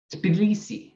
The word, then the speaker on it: Tbilisi: And that word right there has a T and then a B. Tbilisi, right? And an English speaker can't say that. So what do? Tbilisi or something like that. Or we have a very reduced vowel after that T.